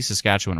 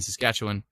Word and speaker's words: Saskatchewan: The reason I say Saskatchewan and not Saskatchewan is because a friend of mine who is a storm chaser in Saskatchewan, she pronounces it Saskatchewan.